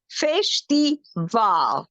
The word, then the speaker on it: festival: very good fish theal the stress is on the last syllable fish the V because it ends with